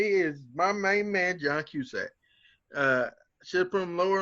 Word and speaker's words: Cusack: I heard people pronounce it Cusick, but I pronounce it Cusack.